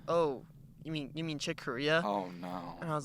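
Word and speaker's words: Corea: you know i never i hear someone say chick korea so i thought it was like chick corey or something oh no yeah did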